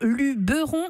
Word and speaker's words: Luberon: on est divisé dans deux camps pour la prononciation du mot luberon ou luberon.